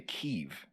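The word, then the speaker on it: Kyiv: concerted effort to say keiv which is how you pronounce it on the ukrainian side which is to me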